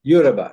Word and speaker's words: Yoruba: How do you pronounce Yoruba? Yoruba, yeah.